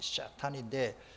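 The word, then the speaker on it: שטן: 샤탄인데 그 샤탄이라는 말이 이빨이라는 뜻이요.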